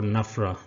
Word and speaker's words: NFRA: The National Financial Reporting Authority, the NFRA or NAFRA, that is how it is loosely pronounced, was constituted on 1st